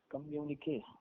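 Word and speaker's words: communiqué: Next लेंगे कम्युनिके, COMMUNIQUE, COMMUNIQUE, कम्युनिक, कम्युनिके, इसका एक बार प्रोनाउंसिएशन बता देना, कम्युनिके।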